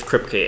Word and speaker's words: Kripke: does totally make sense by the way it's kripke eric crypt it's how you how you pronounce it yeah and another thing is at